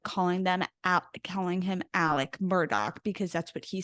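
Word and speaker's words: Alec Murdaugh: gonna get clarity about how the hell you say this man's name and every single one of them said Alec Murdock yep yeah I really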